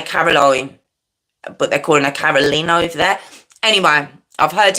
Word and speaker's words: Carolyn: So I don't know if we would say Caroline, but they're calling her Caroline over there. Anyway, I've heard it pronounced Caroline, so that's what we're going to say. So her mum, Carolyn Parsons, her dad, Billy Dean Goodman.